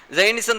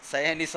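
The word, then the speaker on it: സയണിസം: പോലും അടിസ്ഥാന പ്രശ്നം കാരണം സൈനിസം തന്നെ ഈ സൈനിസം മുന്നോട്ടുവെക്കുന്നത് നമ്മൾ പ്രയോഗിക്കുന്ന പ്രയോഗം അതിന്റെ ഉച്ചാരണം ഒക്കെ കുറച്ചുകൂടി ശ്രദ്ധിക്കണം സയനിസം എന്നാണ് പറയുന്നത് നമ്മൾ നേരത്തെ രാവിലെ കുറിച്ച്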